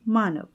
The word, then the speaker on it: Manav: And his thought meandered to his recently born son's provisional name, Manav, rhyming with Danav, demon.